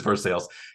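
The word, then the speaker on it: Versailles: Missouri in a city named after a European city but pronounced much differently do you have a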